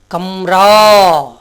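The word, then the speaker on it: कमरा: இப்போ இந்த எக்ஸாம்பிள் பாருங்கள், கம்ரா, க ம ரா அப்படி தானே சொல்கிறோம். ஆனால் கமரான்னு சொல்லக்கூடாது. கடைசி எழுத்து நெடில் எழுத்தாக வந்திருக்குது, நடு எழுத்து குறில் எழுத்தாக வந்திருக்கிறதுனால இந்த நடுவில் வந்த குறில் எழுத்தை மெய்யெழுத்தாக மாற்றி உச்சரிக்கணும்.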